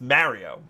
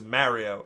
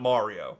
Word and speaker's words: Mario: name is Mario so we're Italians and uh we have to be stereotypical I guess and that's just how we pronounce it it's Mario my grandfather's name was Mario not Mario so that's why I